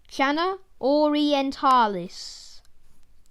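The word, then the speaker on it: Channa orientalis: avoid the ceylon snakehead scientific name shana orientalis pronunciation shanna orientalis size usually to around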